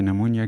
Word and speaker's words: pneumonia: हैं about निमोनिया के नमोनिया किस तरह एक रेस्पिरेटरी डिसऑर्डर है नमोनिया के स्पेलिंग में ये भी साइलेंट होता है और इसको प्रोनाउंस नहीं किया जाता अच्छा तो फर्स्ट ओपल